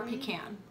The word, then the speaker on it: pecan: the word again peacock pecan or pecan pig depends on how you pronounce it and then um you